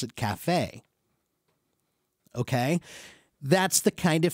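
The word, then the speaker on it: café: we would pronounce it Kafe but it's not an English word it's a French word so we keep the French pronunciation when pronounce it Cafe okay that's the kind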